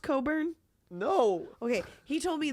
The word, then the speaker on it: Cockburn: Is it pronounced Coburn? No. Okay, he told me that's actually pronounced Coburn.